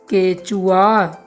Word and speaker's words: केचुआ: केचुआ। उच्चारण करके देखिएगा। आपको ऐसा प्रतीत होगा कि इसके लास्ट में व लगता है पर ऐसा नहीं है।